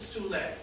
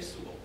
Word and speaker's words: Sewell: I think the pronunciation is Merrill Sewell. When I was an undergrad, I had a history professor whose last name was spelled the same way. He pronounced it Soule, but he was from New Orleans. So I'm going to say Sewell.